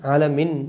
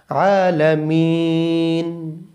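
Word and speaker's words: العالمين: হবে এরপরে মিটানতে হবে অনেকে বলে আলহামদুলিল্লাহি রাব্বিল আলামিন আলামিন আলামিন আলামিন বললে হবে না এখানে তিন আলিফ টানিয়ে বলতে হবে আলামিন আচ্ছা সুন্দর করে সুন্দরভাবে ভাবে গোটা আয়াতটি আমরা চেষ্টা করি।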